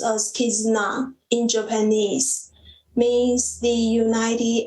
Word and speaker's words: Kizuna: The bound, pronounced as Kizuna in Japanese, means the united and the binding relationship among people.